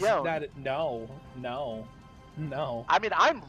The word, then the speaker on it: Yone: It is Yone. That's how Yasuo pronounces it.